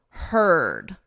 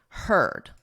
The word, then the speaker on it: heard: Notice we have EA, but in this case it's and in this case it's ed, heard. So you can think of it as her, him, her, and then just add a D, heard.